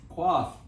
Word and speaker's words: coif: Quaff. Coif. The pronunciation key is right below it.